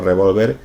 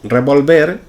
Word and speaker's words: revolver: Pero en ningún caso llevaría tilde, pues si lleva tilde nos estamos refiriendo a un arma. Me apuntó con un revólver.